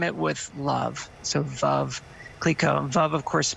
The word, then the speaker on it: Veuve: And I even used to say Veuve. Does that drive you crazy when people... Is it like nails on the chalkboard? And give us the exact pronunciation. It's Veuve, right? Rhymes with love.